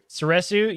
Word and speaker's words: Soresu: Soresu, yes, which is form number 3.